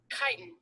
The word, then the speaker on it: chitin: Chitin. Chitin is how she pronounced it. Okay, chitin. Chitin. So almost got it right. Because isn't it spelled CH? Yep.